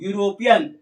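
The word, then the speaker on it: European: ए यूरोपियन इसका उच्चारण करेंगे तो हो जाएगा यू यूरोपियन अंतस तो इसका प्रयोग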